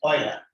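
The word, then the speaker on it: Euler: The pronunciation is ऑयलर।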